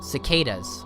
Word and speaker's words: cicadas: Cicadas.